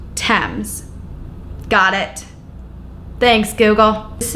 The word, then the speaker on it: Thames: The river's name has always been pronounced Thames.